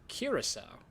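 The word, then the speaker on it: Curaçao: Curacao is a Dutch word pronounced curacao.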